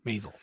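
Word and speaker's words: Maisel: in Amazon Prime Mrs masel masel thank you masel I don't know who this guy is never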